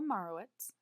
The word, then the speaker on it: Meyerowitz: Joel Marowitz, as pronounced in his film Pop, is an American street portrait and landscape photographer who was born in New York in 1938.